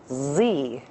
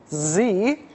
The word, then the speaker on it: Xe: Blackwater, as of today, would prefer to be called Z. Z. Better yet, it is pronounced Z, but it's spelled XE.